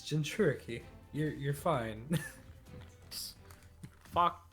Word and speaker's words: Jinchuriki: It's Jinchuriki. You're fine. Fuck. How do you pronounce your team?